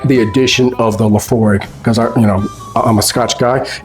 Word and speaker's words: Laphroaig: So the correct pronunciation is Laphroaig. Laphroaig.